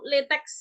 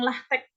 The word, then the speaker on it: LaTeX: ya Jadi yang pertama pengucapannya itu latex ya Ada juga yang lahteex tapi di Indonesia dikenal sebagai latex begitu saja Kemudian latek ini